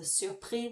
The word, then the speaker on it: surpris: The surpris, when it's got nothing after it, it just goes off into the ether.